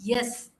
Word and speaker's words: yes: No, it's not S, it is yes. There is a yes sound here.